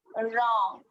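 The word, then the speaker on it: wrong: हाँ, डब्लू में, हाँ ये तो बहुत अच्छा सा है, डब्लू साइलेंट, रॉन्ग।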